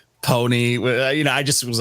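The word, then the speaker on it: Ponyc: dropped an album called Pony uh it's spelled p-o-n-y-c the C is silent I hate it I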